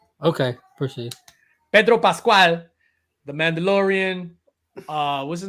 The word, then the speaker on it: Pedro Pascal: Pedro Pascal. Okay, proceed. Pedro Pascal, the Mandalorian.